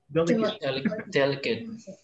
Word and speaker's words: delicate: it's okay delegate okay can you hear it delicate there cut so not eight that's okay okay c-o-m-m-u-n-i-c-a-t-e